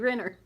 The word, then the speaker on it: Renner: name and she said it rhymes with dinner and she said sure enough they put a bracelet on her that said Debbie dinner Debbie Renner so now I can